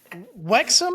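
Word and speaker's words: Wrexham: your boy Ryan Reynolds Wexom I think is how they pronounce it signed uh uh oh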